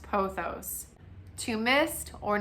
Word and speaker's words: pothos: A golden pothos, they were saying it like P-O, like pothos, like it's spelled. And I was like, oh my gosh, wow, I have been saying it wrong. I don't know if it's technically wrong, but I would have to say that I do think that it's pronounced pothos.